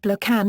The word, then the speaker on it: belacan: Sambal belokan, pronounced blokan, is a traditional Malay sauce made by frying a mixture of mainly pounded dried chilies and fermented prawn paste.